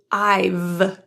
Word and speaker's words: I've: I and have are typically contracted to I've the H and have disappears in the contraction. The final V that consonant in IV is again typically voiced IV with the bottom lip and top teeth vibrating with your vocal folds. VV. If you don't feel that vibration, it will sound like an F I.